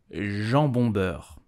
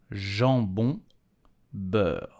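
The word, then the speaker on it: jambon-beurre: slice of um so how do you pronounce it correctly in French you will say Jean bondberg Jean bundberg am and butter did you know that each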